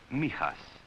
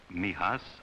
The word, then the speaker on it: Mijas: near the southern coast it is pronounced Mias for most of my boys Mias outside the window There